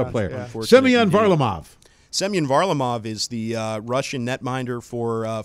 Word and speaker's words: Semyon Varlamov: Semyon Varlamov is the Russian netminder for former Monsters head coach Jared Bednar in the Colorado Avalanche.